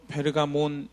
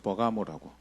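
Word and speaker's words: Pergamon: 많은 지역에 있는 도시입니다 헬라 o 원어 발음 요 페르가몬 이라는 팔을 조금 더 가깝구요 이제 한국 성에는 것을 버 가 뭐라고 이렇게 읽고 있죠 서머나 현재 이즈미르 해서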